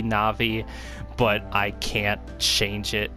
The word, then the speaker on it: Navi: best way you can i always called her navy i know now with the japanese language that it would be navi but i can't change